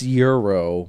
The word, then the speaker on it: gyro: Is it gyro or gyro? It's Euro, but I call it gyro. Gyro? Because that's how it's spelled in English.